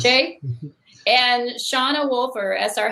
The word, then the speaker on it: Shea: And Rob Roy McCandless, Matt Campbell, aka Shea. Did I pronounce that right? Yes. Shea?